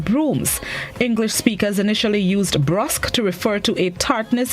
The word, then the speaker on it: brusque: The word of the day this morning is spelled B-R-U-S-Q-U-E, pronounced brusque, and it's an adjective which means markedly